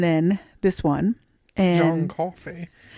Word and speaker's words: Coffey: John And Coffey. just like the drink, only And not spelled spelled the same.